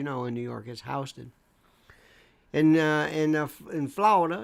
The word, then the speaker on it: Houston: no ink people always love to they they pronounce certain things certainly certain ways never say Houston here as you know in New York is Houston and uh enough in Florida it's not Lafayette